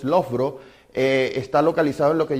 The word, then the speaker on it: Loughborough: La pronunciación de la palabra es Loughborough, aunque algunos le dicen Loboro. Esa es la mala pronunciación, es Loughborough.